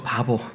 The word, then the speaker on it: 바보: 바울이 그래서 이 구브로섬을 질러서 서쪽에 있는 바보라는 도시로 갑니다. 발음이 좀 그렇죠. 바보. 영어 이름은 파포스라는 도시입니다.